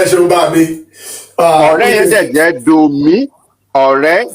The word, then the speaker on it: Ọ̀rẹ́: Ọ̀rẹ́. Okay, so the vowels, should they have any bottom mark?